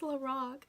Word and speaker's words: LORAC: Or how like some people pronounce Lorac like Lorac. I'm like, please, it's Lorac, not the Lorax.